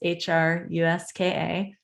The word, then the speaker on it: Hruska: So that's Hruska. Last name is Hruska. Little strange. The H is silent.